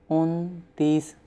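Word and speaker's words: انتیس: 29 Untees. First say un and then say tees. Untees. In number 29 follow 30 which is tees. Therefore we say un and tees.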